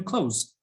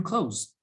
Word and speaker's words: clothes: i bought some new clothes i bought some new clothes there you go so yeah that has no sound in it but from the context